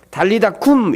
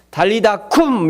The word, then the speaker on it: 달리다 쿰: 달리다굼 이렇게 기록돼 있는데 원어는 달리다굼 좀 구미점 더 쎄게 발음이 되는것 같아요 달리다 쿰 이렇게 기록되어 있습니다 따라서 해볼까 여러분 달리다 쿰 아 그냥 원래 이게 달리다 곰이 게이 이렇게 쭉 이어진 게 아니라 떨어져 있어요 단어가 달리다 쿰 이렇게 펄떡 일어나라고 달리다